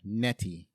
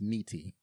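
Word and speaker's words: Nitti: Graffiti Billy Dro played Frank NTI or I'm sorry it's probably pronounced Niti he's been in Delta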